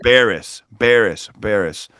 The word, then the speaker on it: Baires: Baires.